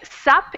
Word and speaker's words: sup: So you say sup instead of what's up. And in that case, the what completely gets taken off. All you keep is the S. So sup means what is up, but we cut off the what. It just becomes sup.